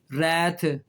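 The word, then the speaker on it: wrath: और जब आर आ जाए तब भी डब्ल्यू साइलेंट हो गया, देखें, राइट, रैप, रॉन्ग, उसके बाद जो है वो रेसलर, रिंग, रैथ, बहुत सारे लफ्ज़ हैं WR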